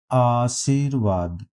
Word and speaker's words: आशीर्वाद: 90 आशीर्वाद का शुद्ध वर्तनी आशीर्वाद, सा के बाद रा का उच्चारण कर रहे हैं तो इसलिए यह अगले अक्षर के ऊपर रा लगेगा, तो इसलिए बी पार्ट सही हो जाएगा आशीर्वाद।